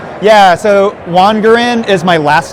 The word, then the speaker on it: Wangerin: I put a split in it because often it's mispronounced as Wangerin when it's all one. So by putting that break in the name, you get the hard G.